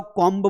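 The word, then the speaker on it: comb: अब कई लोगों को नहीं पता हो कॉम्ब बोलते हैं। लेकिन यहां पर देखो बी के पहले एम आया ना तो फिर बी को प्रोनाउंस नहीं करना है।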